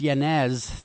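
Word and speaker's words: Yanez: the fact well yeah according to transcripts yanz that's the proper pronounce pronunciation dr's last name I'm sorry uh yelled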